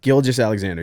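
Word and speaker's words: Gilgeous-Alexander: All right, I'm gonna try my best to pronounce this one. Shea, is it Gilgeous? Shea Gilgeous Alexander. Yep. Gilgeous Alexander, yeah.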